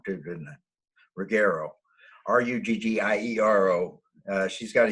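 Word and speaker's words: Ruggiero: three people on a really regular basis macy rigario which is are you yeah i said it wrong too didn't it rigaro r-u-g-g-i-e-r-o uh she's got a youtube channel she's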